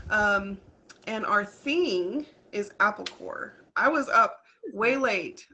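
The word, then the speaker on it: Apple Corps: it was already taken but corpse is actually pronounced core there so it's still apple core and the reason that that's the place is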